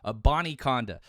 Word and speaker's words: Abanikanda: I'm looking at the pronunciation guide. Abanikanda.